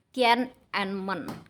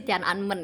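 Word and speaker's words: Tiananmen: Yang pertama itu ada ketakutan massal setelah tragedi Tienman. Ee kalau misalnya pronunciation yang benar sih Tian Anmen ya.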